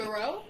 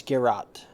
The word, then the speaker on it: Geralt: But Garou? No, it's Geralt.